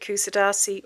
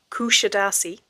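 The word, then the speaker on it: Kuşadası: than being aware that Kusadasi or well actually she pronounced as Kushidasi is a resort I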